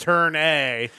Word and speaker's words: Turn A: It's pronounced Turn A.